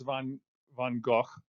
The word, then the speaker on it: Van Gogh: And then again, you know, there's Van Gogh. Um, that's how it's pronounced in Dutch.